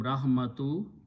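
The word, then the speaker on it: رحمة: a feminine word okay but when in urdu we say rahmat which is the same thing we stop here we say rahmat okay so now you combine with the word of love loves a jalala allah who okay then you put off in between you combine these two words as the rule of his the rule is that first letter will lose one page so it will become rahmatu second will become kasra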